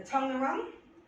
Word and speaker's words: Taungurung: The Tungurung, is that pronounced?